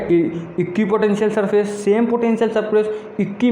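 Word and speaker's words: equipotential: तो याद रखना हमेशा ये सही प्रोनाउंसिएशन आपको करना है, इक्वी पोटेंशियल सरफेस, और यही स्पेलिंग भी लिख के आना है।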